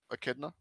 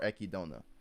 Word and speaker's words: Echidna: Echidna. Yeah. You're right. Oh, excellent. I Yes. say Echidna. Yeah. +1 for the boys. Yeah. Apparently it's echidna or echidona, whichever one work apparently.